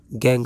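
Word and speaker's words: gangue: यहां गैंग नहीं बोलेंगे। यू ई नहीं बोलेंगे। यहां सिर्फ गैंग हम लोग इसको प्रोनाउंस करेंगे।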